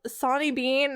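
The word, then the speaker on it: Sawney Bean: It's called Sonny Bean. It's spelled like a saw and then N-E-Y and then bean. But I know that because it's Scottish, sometimes letters don't sound the same as I'm used to with my very English tongue.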